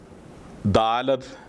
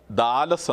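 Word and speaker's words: Dalath: ദാലത് എന്ന ലെറ്ററിൻ്റെ സിറിയക് പേര് നമ്മൾ എഴുതുമ്പോൾ മൂന്നാമത്തെ ലെറ്റർ താവാണ് അവിടെ ഉപയോഗിച്ചിരിക്കുന്നത്. ആ താവ് സോഫ്റ്റായും ഉച്ചരിക്കാറുണ്ട്. അതുകൊണ്ട് തന്നെ ദാലത് എന്ന ഉച്ചാരണത്തിന് ദാലസ് എന്ന ഉച്ചാരണം കൂടി ആ ലെറ്ററിനുണ്ട്. കോമൺ ആയിട്ട് ദാലത് എന്ന് ഉപയോഗിക്കുന്നുണ്ടെങ്കിലും താവ് അവിടെ വന്നിരിക്കുന്നത് കൊണ്ടും താവ് സോഫ്റ്റ് ഉച്ചാരണമായതുകൊണ്ടും ദാലസ് എന്നുകൂടി ഉച്ചരിക്കാറുണ്ട്.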